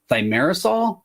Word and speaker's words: thimerosal: It was under a brand name, like and my pronunciation is gonna be terrible. I think it was thimerosal.